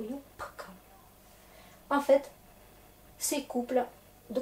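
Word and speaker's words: юбка: Regardez, une sonore se retrouve avec une sourde, et du coup yupka.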